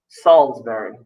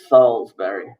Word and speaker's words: Salisbury: click where does market go to college it's pronounced salisbury it's pronounced salisbury so this is question three that's wrong question